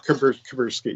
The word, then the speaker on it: Kuberski: Eddie Kuberski. Is that how you pronounce it, Eddie? Yeah, Kuberski. Yeah. Kuberski. Okay, Kuberski. Yeah, I'm the worst pronunciation guy ever.